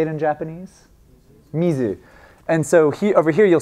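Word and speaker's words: 水: Mizu. And so over here you'll see two variations. And do you know the other pronunciation for this? Sui, yeah.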